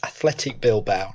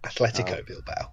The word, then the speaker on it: Athletic Bilbao: It's Athletic Bilbao, not Atletico Bilbao.